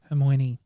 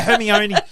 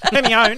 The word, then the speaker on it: Hermione: identical so and also how to pronounce hermoine hermione yeah hermione let me own i was like that's